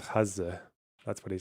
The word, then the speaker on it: Gaza: The closest I can get is when I think of my dad saying it and he says Hazza.